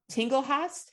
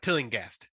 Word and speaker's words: Tillinghast: Crawford Tinglehast. Is that how you say it? Nope. Tinglehast? Tillinghast. Tillinghast, a survivor of Dr.